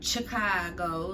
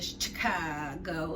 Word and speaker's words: Chicago: And Eddie was like, "Are you saying Chicago like chicken?" She's like, "Yeah, ain't that how you say it?" No, that ain't how you say it. She's like, "Well, I'm saying it like the mobsters," and he's like, "Don't